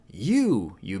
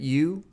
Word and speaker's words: よ: like they're staring at you? You. 1, 2. It does look like a fish. Yo. Yo is pronounced like yo in yo-yo. In British English, it's more like yo in yonder.